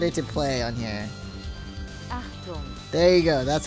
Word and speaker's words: Achtung: Achtung. There you go. That's how you pronounce it.